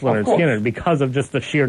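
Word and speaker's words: Lynyrd Skynyrd: album as a whole that was better than pronounced leard skinnard because of just the sheer number of hits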